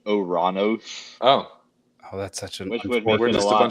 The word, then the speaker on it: Uranus: while we're on this apparently the original pronunciation of the planet Uranus was actually oranos oh oh that's such